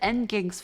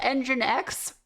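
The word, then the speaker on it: nginx: I've I've said end gigs for years. It's called engine X. I've said N ginks for years now.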